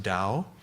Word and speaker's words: Tao: looks like Tau right they write a tao but that's pronounced Dao and that is literally